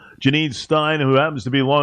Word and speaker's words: Stiene: It's actually Stiene. It rhymes. Janine Stiene. I was going to go with Steen, and then my gut said, you know what, let me change it.